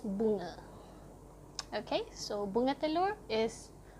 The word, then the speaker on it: bunga: So yeah, just keep in mind, if you encounter a Malay word, right, and the A is right at the end, the pronunciation stops being A, it becomes So it's not bunga, it's bunga.